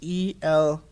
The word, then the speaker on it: Elmakias: Adam Almachius, I believe is how it is how you pronounce it. It's Elmakias.